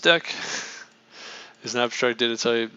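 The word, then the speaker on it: deque: double ended queue deck often abbreviated as a deck pronounced deck is an abstract data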